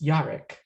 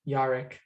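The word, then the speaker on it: Jarek: My name is Yarek. It's spelled a little like Jared, but the J is pronounced like a Y. Most people get it wrong. Nice to meet you, Yarek, with a Y.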